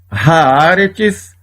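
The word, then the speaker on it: הָאָרֶץ: A primeira, haaretz, a terra. Esta palavra tem 3 sílabas porque tem 3 vogais cheias.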